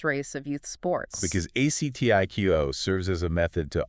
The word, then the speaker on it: ACTIQO: and pronounced ACTIQO. ACTIQO, right.